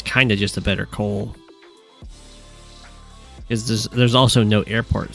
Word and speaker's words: Koal: Jake is kind of just a better Koal. Because there's also no airport, so it's not like the +1 movement for Koal's air units is mattering a ton. Or +2 or +1. Shoal does rhyme with Koal.